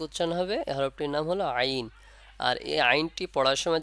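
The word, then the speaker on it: عين: কোথা থেকে উচ্চারণ করব আইন বলার সময় হলকের মধ্যখান থেকে কোথা থেকে হলকের মধ্যখান থেকে আইন যখন উচ্চারণ করব টানবেন চার আলিফ পরিমাণ তাহলে দেখবেন সঠিক উচ্চারণটা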